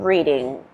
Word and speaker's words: Reading: So, believe it or not, this is also pronounced Reading if you're speaking about a town in England.